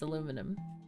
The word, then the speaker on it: aluminum: meant aluminum yes aluminium it's spelled aluminium but i think they misspelled it it's aluminum okay so it's it's it's like solder yeah it's like solder exactly it's spelled one way but americans skip every few letters just because it gets too complicated do you know what